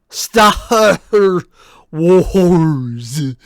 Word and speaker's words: Stahr Wors: think were physically possible, Stahr Wars. RPG story, the Farce Awokends. Also, if it sounds like I'm overpronouncing that, no. No, I'm really not. It is spelled exactly like I pronounced.